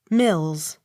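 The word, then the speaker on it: Milnes: l a i s melee accent on first syllable m i l n e s mills m o l y n e u x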